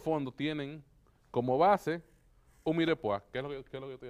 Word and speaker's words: mirepoix: Y todos esos fondos tienen como base un mirepoix. ¿Qué es lo que estoy haciendo? Que es una combinación de zanahoria, cebollas y apio. Mirepoix. Se escribe. Mirepoix. Vamos a cortar una zanahoria. No, mire, es mirepoix.